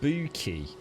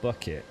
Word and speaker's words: Bucket: did you like it it's pronounced boo ki not bucket oh joe i thought